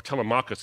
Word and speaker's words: Telemachus: So a few centuries after the birth of the church, there was a Christian monk named Telemachus, or Telemachus is how you actually pronounce it.